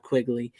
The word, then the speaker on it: Quigley: uh like I said it's Leanna lynnea quickly I keep saying her name wrong so I always say Leanna it's Linnea Quigley so no wonder she